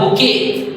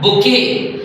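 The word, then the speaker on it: bouquet: number to बी ओ यू क्यू यू ई टी इसको पढ़ाया जाता है बुके क्या पढ़ाया जाता है बुके डअ स्टूडेंट्स आपको जानना है सी ओ एल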